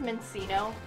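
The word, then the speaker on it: Minccino: ever saying it right i think it's mencino because you have like cappuccino well well that's what we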